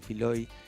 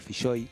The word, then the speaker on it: Filloy: El asunto es así, el tipo se llama Juan Filloy, se escribe con doble L, algunos le dicen Filoy, mal dicho y por él, porque no, es un apellido bien vasco, entonces es Filloy, Claro.